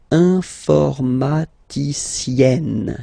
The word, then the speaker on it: informaticienne: And you get the sound informaticienne, sienne. Remember, E and then double N, or then it could be double L or double consonant here. You open your E, so it's E, informaticienne. Okay, so I tend to